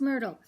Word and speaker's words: Myrtle: own red red one my name is Myrtle and it rhymes with turtle so how much Rosie